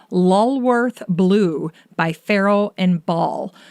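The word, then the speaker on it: Lulworth: or even in your home this one's called lorth Blue by pharaoh and ball and lorth is spelled l u l w r t h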